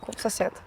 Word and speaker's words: SoseD: Commentators don't pronounce it like SoseD, but rather like like "so sad."